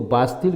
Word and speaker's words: Bastille: था इसको बास्तीन, और बास्तीन को लिखा जाता है BASTILE, तो इसको बास्तिल कहा जाता है। इसका जो प्रोनाउंसिएशन होगा तो बास्तिल होगा।